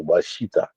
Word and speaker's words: Washita: Well, that Down was the French way how they said it, but it's actually Washita. That's the Washita. correct way of pronouncing Washita.